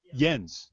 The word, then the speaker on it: Jens: Jens Hanneman again asked, am I pronouncing your name correctly? Jens? Jens.